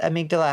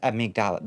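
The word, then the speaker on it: Amygdala: have tentacles I thought amigdala had um tentacle faces am I just remembering them wrong you've been in your human form for a while now true yes it's pronounced am migdal thank you mono oh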